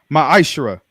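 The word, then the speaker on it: מעשר: chap chapter 3 8-10 means 10th in the Hebrew and it's pronounced maishra 10% of every penny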